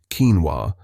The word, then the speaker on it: quinoa: Quinoa, pronounced quinoa, is a nutritional powerhouse.